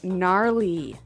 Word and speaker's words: gnarly: the ski instructor say gnarly gnarly run yeah gnarly so an interesting word it's spelled g n a r l e y okay so but you don't say gnarly no you say gnarly yep and a related